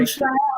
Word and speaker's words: Ushuaia: Is it too dangerous to go to Ushaya? Is that how you say it? Ushai? Ushuaia or Punta Arenas look for the last minute deal to Antarctica.